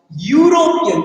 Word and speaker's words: European: European, although it's E, but the sound is U.